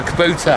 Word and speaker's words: Kubota: It's not Kabuta. Kabuta. Yeah, Kubota. Kubota.